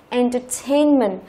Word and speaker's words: entertainment: Và khi chúng ta thêm ment vào đằng sau thì trọng âm của từ cũng không thay đổi. Entertainment là sự giải trí.